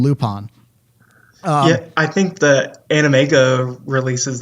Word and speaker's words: Lupin: guns and on the Dubs like we're gonna pronounce his name loop on I think that animega releases they call him